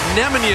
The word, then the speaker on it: Nemanja: you nemanja via lisa you have gone with nemanja as the correct pronunciation we want to make